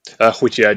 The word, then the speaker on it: Hwitgeard: white ah okay thank you for sorry um wh yard is the old English for white yard essentially